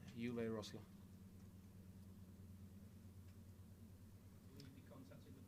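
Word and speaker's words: Uwe Rösler: The German way or the English way? The way that you would like Leeds United fans to pronounce it. Uwe Rosler.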